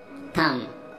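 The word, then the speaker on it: thumb: थम, थम के मैनी है अंगूठा, और यहाँ पे भी बी साइलेंट है।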